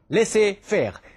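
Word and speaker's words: laissez-faire: Now this is a French word and I'm pron pronouncing the way it should be pronounced leare that is you let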